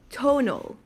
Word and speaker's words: Tonal: data science manager at Tonal. And I don't know if many people know Tonal. So can you Tonal or Tonal? I don't know how you pronounce it. First one's right, tonal.